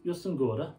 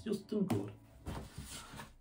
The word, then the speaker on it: Jostein Gaarder: Jostein Gaarder, I have to say it like that because it's Norwegian and everything is Jostein Gaarder.